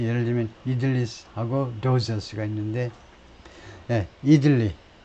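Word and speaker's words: idli: 그리고 카멜라 해리스가 이 Southern Indian dishes를, 요리들을 굉장히 좋아하는데, 예를 들면 이들리하고 도사스가 있는데, 이들리, 이쪽은 앞에다 액센트 들어서 이들리라고 발음을 하고, 영어에서는요, 그 다음에 도사스, 이것도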